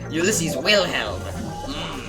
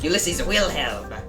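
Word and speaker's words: Ulisses Wilhelm: You're not saying it right. You've got an American accent. You're not supposed to. You're supposed to have this sort of accent. Ulissiz Wilhelm. That's me. Ulissiz Wilhelm.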